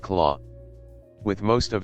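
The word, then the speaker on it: Klaue: Now it doesn't even have that thanks to the thieving Ulisses claw pronounced claw.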